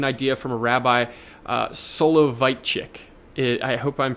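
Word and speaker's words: Soloveitchik: It's actually an idea from a rabbi uh Solo Vitechic. It I hope I'm pronouncing that correctly.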